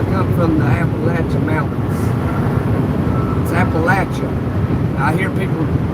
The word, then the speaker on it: Appalachia: It's Appalachia. I hear people mispronounce it. They call it like Appalachia or something. Appalachia. Uh, no, it's Appalachia.